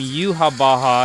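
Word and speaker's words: Yhwach: there's a villain named Yuha Baja. Yeah, it's not spelled like the way you the way it sounds, just so you know.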